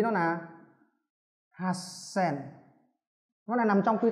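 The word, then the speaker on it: はっせん: Vậy nó nằm trong quy tắc S thì chữ to này sẽ biến thành chữ nhỏ, người ta đọc là hasen.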